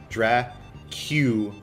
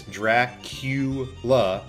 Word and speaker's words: Dracula: Dra-Q-la. I am the only person on the face of the earth that pronounces this word correctly. It's Dra-Q-la, spelled and pronounced backwards.